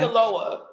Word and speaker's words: Sinaloa: How you pronounce that? S-I-N. You said it right. Okay. Sinaloa.